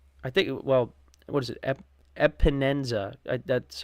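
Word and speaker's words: Epenesa: You got Micah Hyde, you got Leonard Floyd, Taylor Rapp, Jordan Phillips, Shaq Lawson, AJ Epineza. I think, what is it? Epinenza.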